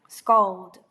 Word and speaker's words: scald: 그래서 잘 들어보시면 scald, scored, scald, scored, scald, scored 뭔가 A가 들어있는 애는 뭔가 조금 더 열린 소리가 나요. 제가 계속 AO, AO, AO 이렇게 발음을 했는데 잘 들어보시면 A는 조금 더 열린 소리가 납니다.